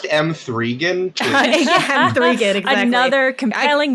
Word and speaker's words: M3GAN: It's like, you know, everyone has different tastes and things, but Janet, it's pronounced M3gan.